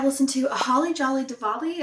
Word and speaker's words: Diwali: Next, I listened to A Holly Jolly Diwali. I think it's pronounced with the V.